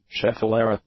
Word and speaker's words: schefflera: chef rola so let's just see what the pronunciation says schefflera schefflera schefflera schefflera schefflera schefflera schefflera I was